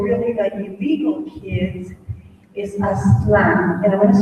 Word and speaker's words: Aztlán: The culture that is being taught to the Latino kids, or really the illegal kids, is Aztlán. And I'm going to spell it out so people will do the research before you say that I am crazy.